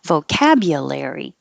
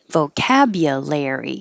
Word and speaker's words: vocabulary: was great and vocabulary you can say yeah or you either way you shouldn't really notice because it's going to be shorter vocabulary vocabulary so larry does sound like larry somebody's name vocabulary absolutely don't release